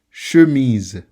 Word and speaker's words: chemise: Second, chemise. Chemise. The S is pronounced Z in this word because when you have an S between two vowels, it changes into a Z.